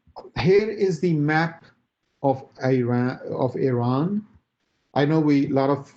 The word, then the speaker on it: Iran: want them to be under the influence of Iran.